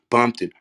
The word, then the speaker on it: Bompton: And he was saying this is Bompton Pyru. Bompton. That's what Jake was saying. And he didn't want to pronounce that C part.